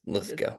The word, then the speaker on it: Lithgow: Uh, like the actor John Lithco. I don't think there's any relation. Uh but it is pronounced Litho.